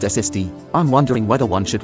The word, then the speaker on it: SSD: Is it a SSD or an SSD? Possible duplicates, an SCAR or a SCAR. Do you use A or an before acronyms? Since SSD, solid state drive, is pronounced SSD, I'm wondering whether one should write an SSD